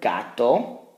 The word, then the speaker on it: gato: So we have the word gato, hard.